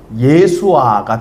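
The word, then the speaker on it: ישוע: 예수를 히브리식으로 발음하면 예수아가 되거든요. 그래서 여호수아라고 또 발음이 되어질 수가 있는 겁니다.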